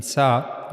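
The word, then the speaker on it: ث: But in sa we have to put the tip of tongue on the front teeth on the edges of the front teeth. Okay? So that's how you have to pronounce sa. This is the tip of the tongue and you have to put this tip on the upper incizers of the edges of the upper incorers.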